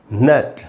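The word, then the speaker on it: gnat: अगर आप इसको ध्यान से देखें, ये जी से शुरू हो रहा है, इसमें जी साइलेंट है, और इसमें ए का फिर वही जबड़े नीचे गिराने वाला ये साउंड है, तो हम इसको बोलेंगे नैट, नैट।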